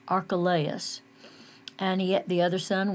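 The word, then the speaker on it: Archelaus: Judea was our archa like us archalayas that's how they said I looked it up to see how to pronounce that archalayas and yet the other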